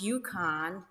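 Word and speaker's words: UConn: it's written like this it's pronounced yukon which is a homonym for y-u-k-o-n hence the huskies um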